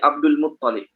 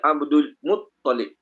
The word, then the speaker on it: Abdul Muttalib: Sebab dia ingat sabdu atas lam. Sabdu bukan atas lam, sabdu atas ta. Okey, sabdu atas ta. Jadi sebut dia Abdul Muttalib, bukan Abdul Muttalib. Nah, kebanyakan orang kita letak nama Abdul Muttalib, L double. Sebenarnya bukan L double, T double.